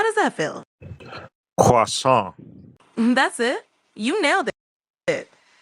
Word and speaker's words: croissant: Croissant. Pretty close. Try emphasizing the nasal sound at the end a bit more, like croissant. How does that feel? Croissant.